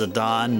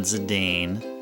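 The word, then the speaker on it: Zidane: It's Zadon, not Zadane.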